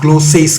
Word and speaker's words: ग्लोसा: इसको ही तो कहते हैं ग्लोसा। ग्लोसेस तुम बोल रहे हो, ग्लोसा मैं बोल रहा हूं, और आपको विकिपीडिया पे